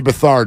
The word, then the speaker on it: Beathard: Beathard is how it is pronounced.